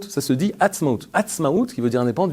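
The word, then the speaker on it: עצמאות: L'indépendance en hébreu, vous savez que ça se prononce Atzmaut, ça se dit Atzmaut.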